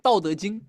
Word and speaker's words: 道德经: Yeah, 《道德经》.